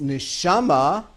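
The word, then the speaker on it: נשמה: the very same letters the very same four letters if it's pronounced neshama means soul interesting same words you go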